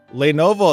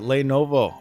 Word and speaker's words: Lenovo: who you guys are talking about ah lenovo lenovo that's how you say it lenovo okay so this is a lenovo kind of